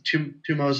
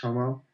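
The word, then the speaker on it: Tummo: This is Tumo's intensive yoga, or it's actually pronounced Tomo.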